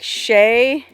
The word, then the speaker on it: Chelly: it's called that because the native peoples who lived here had a word that sounded like Shay I think it meant